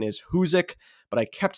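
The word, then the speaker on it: Hoosac: The correct pronunciation is Huzek, but I kept saying Huzac like a complete idiot.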